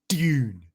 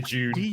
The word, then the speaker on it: Dune: I always try to pronounce it like Dune. You know, I don't want to say June. I want to do the British thing.